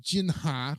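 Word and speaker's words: Jinnah: to Gianni uh what P was Muhammad Ali jinha or am I pronouncing that right yes okay the first governor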